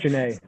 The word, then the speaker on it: Genet: It's weird the way it's spelled. Yeah, it's Genet.